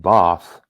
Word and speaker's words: Bath: And we ended up in Bath, or how they say it, Bath.